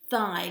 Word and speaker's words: thigh: say that with me thigh let's count the sounds together i two sounds and there's those tricky gh that are silent in that word so today on my